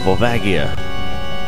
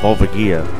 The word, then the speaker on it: Volvagia: It's Volvagia. I used to always call him Volvagia or something stupid, but once again, Lens of Truth told me the correct way to pronounce the name of another character in Zelda. Alright, and I like the boss battle right here.